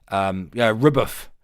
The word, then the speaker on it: RBF: Rubuff. Rubuff is how that's pronounced, actually. Do we have Tempest in the chat?